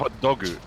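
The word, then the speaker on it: ホットドッグ: It's pronounced JPEG. It's just It's hot the dog. It's Japanese always word. hot dogu.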